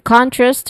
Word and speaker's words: contrast: Pronunciation wise we start with in we're familiar with that and then contrast where con is the stress syllable and then two.